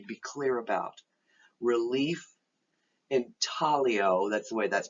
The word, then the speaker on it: intaglio: processes you need to be clear about relief intaglio that's the way that's pronounced not intaglio and plena graffiti so let's go through them